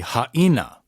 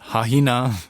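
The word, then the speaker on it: Haʻina: Haina iamai instead of haina should be haina, haina, right? You make sure that you get the glottal stop in there. You stop your voice. Haina, not hahina, not haina, haina iamai anakapuana.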